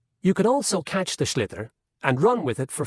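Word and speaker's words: sliotar: this ball called a schlitter that's s l iot so it's not spelt the way it's pronounced you hit it into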